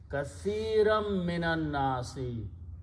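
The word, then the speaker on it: كَثِيرًا مِّنَ النَّاسِ: So in the recitation, instead of pronouncing noon here, you pronounce a meme here, and that's the reason we put a shadda there. So it will be kathiram minan nasi.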